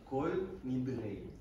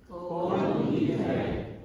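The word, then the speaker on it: כל נדרי: try to teach you some of the Yemeni pronunciation just so you know. So, repeat after me. Kol Nidrei. Kol Nidrei.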